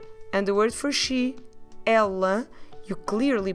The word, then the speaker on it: ela: And the word for she is the word ela. Ela. You see the difference between these two? The word for he is more a closed vowel, so you don't open much your mouth, you do a il.